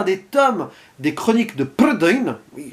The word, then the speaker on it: Prydain: Mais revenons sur ce métrage qui nous intéresse ici, adapté d'un des tomes des chroniques de Prydain, oui, je le prononce à la galloise, car c'est la mythologie locale, hein, ah, c'est pas